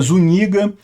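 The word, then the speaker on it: Zúñiga: é o nome dele esse n com tio aqui se pronuncia como NH nosso então é zuniga eh o general foi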